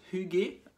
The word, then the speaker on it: hygge: ceci c'est h i I g e vous pouvez dire IG si vous voulez il paraît il semblerait que ça se prend Hugé Hugé personne ne le sait vraiment à part